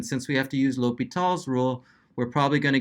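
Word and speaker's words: L'Hôpital: speed does rule or if you want to say it properly in French is the l'hopital you can say Hospital though I don't care and then we're told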